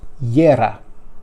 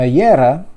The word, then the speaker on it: Jera: It's in Northern Europe that J is pronounced as a Y.